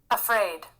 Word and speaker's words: afraid: तो यहाँ पे ध्यान देने का क्या है कि अ से स्टार्ट हम लोग अफ्रेड बोल रहे थे, अफ्रेड बोलता है तो थोड़ा ठीक है, उसको जितना खींचना है, जितना उसमें सुर ताल डालना है डाल सकते हैं, लेकिन स्टार्ट वो अ से होगा, ठीक है।